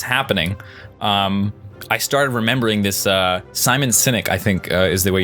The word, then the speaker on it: Simon Sinek: And it's so interesting because as that was happening, I started remembering this Simon Sinek, I think is the way you pronounce his name. Simon Sinek.